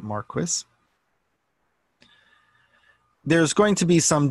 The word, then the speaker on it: Marquis: though it's kind of Americans would say Marky he pronounces it Marquess there's going to be